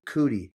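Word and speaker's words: Coody: It could be like Pearson cootie, but it's some sort of cootie, not cooter.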